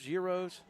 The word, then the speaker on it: gyros: Gyros? Okay. I got the wrong one up for you, by the way. I'll get that right eventually. So gyros. I'm going to call them gyros, and if it's wrong, I'm going to blame